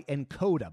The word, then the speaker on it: Nkoda: This episode is brought to you by Encoda. By the way, that's spelled Nkoda.